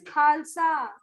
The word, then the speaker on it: Khalsa: Hamad, is it Khalsa? Is this the correct pronunciation? Ma'am, Ma'am, Khalsa. Khalsa, it is Khalsa.